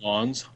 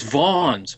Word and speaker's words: Vans: It's pronounced Vons. That's Vans. It's Vons.